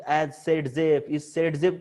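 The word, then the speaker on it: Zaitsev: सेडजेफ को मतलब ये अलेक्जेंडर जेटसेव ऐसा हमको लगता है, ये रशियन है, उसका प्रोनाउंसिएशन सेडजेफ है, ठीक है।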